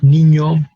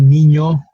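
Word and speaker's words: niño: not have in English its pronunciation however it's not new to English speakers is something very similar to what English speakers pronounce when they see the letters and in Y together as in the word Canyon Kanyon produces a similar sound as the letter nu in Spanish so we have Nino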